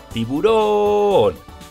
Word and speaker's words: tiburón: ejemplos tenemos la palabra tiburón truco de la palmada para separarlo en sílabas ti boron ahora vamos al truco del lobo tiburón lleva la fuerza de voz en la última sílaba si es aguda otro